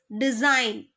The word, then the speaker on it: design: The answer is design. Answer is design. Silent letter is G.